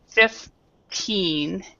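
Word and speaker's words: fifteen: Because you need to actually pronounce and stress the last syllable. So you have 15, and you really need to stress this part right here.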